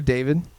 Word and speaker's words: D4VD: So you know the singer David? Yeah. It's spelled like D4VD, whatever.